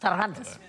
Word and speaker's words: Cervantes: Very good pronunciation of Cervantes. Cervantes.